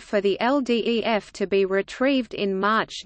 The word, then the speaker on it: LDEF: Exposure Facility, or LDEF, acronym pronounced LDEF, was a school bus-sized